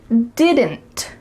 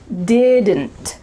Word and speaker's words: didn't: When native speakers are speaking quickly, we do not say didn't with each sound pronounced. Instead, you're gonna hear didn't, didn't. There's a lot going on here in your throat. Didn't, didn't. So that final D is cut short, and the final T as well is cut, so it's really gonna be just your throat.